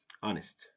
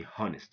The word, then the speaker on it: honest: goes before n it's silent rule number two honest our owner ghosts don't say ghosts okay when H goes before Oh H is silent don't say honnest okay number three doubt don't say doubt--but or